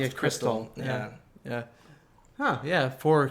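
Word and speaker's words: Xtal: CX is sometimes short for crystal, right? Oh yeah. You're right. Or just X. Yeah, You know the any, Aphex Twin song, X Tall, is actually pronounced yeah, crystal.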